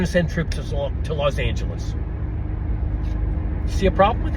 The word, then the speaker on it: Los Angeles: I mean, the correct pronunciation is Los Angeles. That's the correct pronunciation, but it's Spanish. You can call it Los Angeles and you can anglicize it.